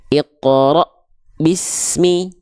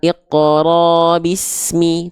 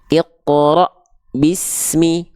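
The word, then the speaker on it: اقْرَأْ: surah al-alaq ayat pertama bacanya kan begini Iqra Bismi bukan Iqro Bismi tapi Iqra Bismi rnya terhentak terhenti karena bertemu dengan Hamzah sukun sama pula kalau teman-teman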